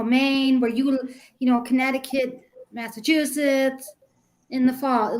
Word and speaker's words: Connecticut: it's spelled Connecticut what you don't pronounce the second C Connecticut Connecticut a Connecticut no we